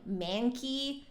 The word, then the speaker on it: Mancke: guys so we have monkey head joints today I think you pronounce it as monkey because it is from Germany I've heard pronunciations like manky and monkey so but